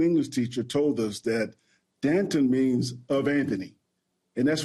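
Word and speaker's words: D'Anton: is it abbreviated now now I know that it's it's is spelled deanton and you would not be wrong if you said deanton that's right but we're from Texas ke we're from Texas we call him Danton okay so so how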